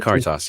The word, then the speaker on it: Caritas: Caritas.